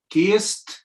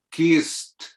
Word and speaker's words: kissed: Kissed se va a pronunciar con una T. Kissed.